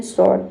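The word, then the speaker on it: sword: इसमें भी हम एस ओ आर डी को हम पढ़ते हैं। शॉर्ट। ठीक है? डब्ल्यू लेटर साइलेंट रहता है।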